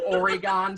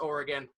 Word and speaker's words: Oregon: oregon because people here actually know how to pronounce oregon none of that oregon stuff that you got in boston and every